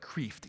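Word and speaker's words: Kreeft: And that last name is spelled it's spelled like creft. K reft.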